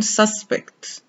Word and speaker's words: suspect: journalist suspect suspect suspect suspect is a verb which means to think that something is probably true especially something bad the stress is on the second syllable however the noun suspect a person who is a suspect in a crime for example the stress here is on the first syllable curator curator a curator